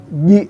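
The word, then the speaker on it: ج: Itu di pengucapan ji yang kemarin ya. Ji bukan ci tapi ji fi ji.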